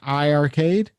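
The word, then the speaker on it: iiRcade: It's called I Arcade. I think it's pronounced I Arcade. How do you spell it? Two I's, RCADE.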